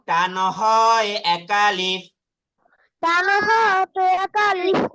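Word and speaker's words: ح: আচ্ছা, এই এই হা কিন্তু উচ্চারণ হবে একটু কণ্ঠনালী থেকে। কণ্ঠনালী থেকে হা উচ্চারণ হবে, ভিতর থেকে উচ্চারণ হবে হা হা।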